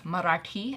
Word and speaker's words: Marathi: Now, you said you're Marathi. Marathi. Yeah. But is that different? No, Marathi is the same as the R sound with your tongues that you're gonna, it's Marathi, and your tongue flicks out.